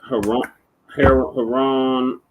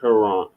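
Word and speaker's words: Huron: no going through no Dam so you got Haron lake lake lake Haron or Haron her Haron h r o n no it's it's pronounced Heron hon Ontario Michigan and eerie and Superior ACM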